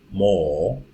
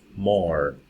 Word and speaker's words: more: More. But in American English it is. More, more. In British English it is pronounced if the next word begins with a vowel sound.